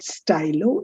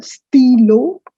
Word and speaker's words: stylo: which you write steal it's not stylo it's the steelo so that's a masculine